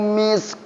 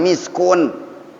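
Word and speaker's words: مسك: Khitamuhu misk. Nah, saya dapat itunya berhenti. Bukan miskun bacanya.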